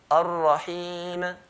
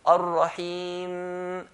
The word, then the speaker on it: Ar-Rahim: So it's not Ar-Rahim, Ar-Rahim. No, we're going to hold the mim. Ar-Rahim, and make a nasalization sound.